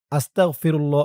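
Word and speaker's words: أستغفر الله: আমি এখন আপনাদেরকে শিখাবো এটি একটি সবক তাই শুরুতে বলে নিয়েছি আপনারা চাইলে সরাসরি আস্তাগফিরুল্লাহ এখান থেকে শুরু করতে পারেন আস্তাগফিরুল্লাহ আসতা হামজা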